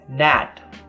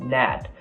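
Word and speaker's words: nát: the word plan its NAT and it's the same way you pronounce it in English you remove that sign about the a and you got NAT it's also be like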